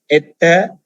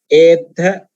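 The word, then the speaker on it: ettha: But why we are not pronouncing as etha? Because the second part of the word we take as combined letters or joining letters or joined letters.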